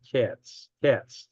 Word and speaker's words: Israel Katz: His name is Israel Katz. I pronounce it K-A-T-S. Looks like cats to me.